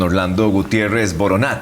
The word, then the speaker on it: Orlando Gutiérrez Boronat: Ahora sí, don Orlando Gutiérrez Boronat, así se pronuncia, secretario nacional del Directorio Democrático Cubano.